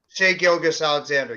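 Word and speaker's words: Shai Gilgeous-Alexander: guy like uh SCS I can't I can't pronounce it SGA Alexander say gilgas Alexander yes thank you so maybe that's the reason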